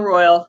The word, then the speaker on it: Royale: to show you it it is spelled ro y le but it's not Royale for whatever reason it's royal it's it's French yeah so it's not no way you if you're gonna pronounce Isle royal pronounce it correctly or at least like the locals do so though you know